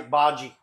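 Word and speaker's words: bhaji: bogy with it Bary sorry how do you pronounce that b b that's what he said he's making b h a j i baji okay what you missed us doing Bollywood yeah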